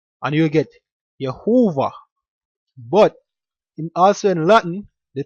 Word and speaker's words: Jehovah: So basically the way you pronounce Jehovah in the Latin is not actually Jehovah, but Yehowah, which properly pronounced in the Hebrew is Yahawah.